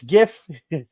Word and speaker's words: GIF: It's GIF. Some people will argue and say GIF.